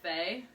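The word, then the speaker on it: Fei: Oh, I know 3 of the mentors, and I believe it's pronounced Faye.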